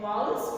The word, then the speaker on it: vowels: You should know parts of speech and vowels. What are vowels? Please pronounce it as vowels. I hear most of you saying it vowels. It is not vowels or vowels. It is vowel.